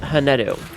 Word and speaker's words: Hanedu: My name is pronounced Hanedu. You may also call me, too, if Hanedu is too difficult to pronounce. Plenty of people just call me, which is perfectly okay. But, uh, the correct pronunciation is Hanedu.